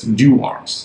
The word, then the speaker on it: Dewar's: it has been made known to me it's pronounced as D arms so but do correct me if I'm still